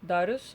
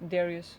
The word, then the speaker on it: Darius: So today we're gonna work on Darius. At least that's how you say name in Lithuanian, but like in English is Darius. So whichever way you want to pronounce it.